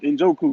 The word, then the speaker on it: Njoku: I can't pronounce his last name. The tight end. Njoku.